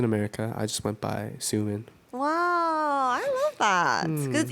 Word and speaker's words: Soomin: no, I actually, when I was in America, I just went by SOOMIN. Wow, I love that. 'Cause it's easy to pronounce too.